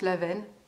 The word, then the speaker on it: awen: Et l'awen, je sais que certains le prononcent l'aven. Bon, moi j'ai toujours dit Laouen, mais parce que j'ai peut-être pas la bonne prononciation non plus.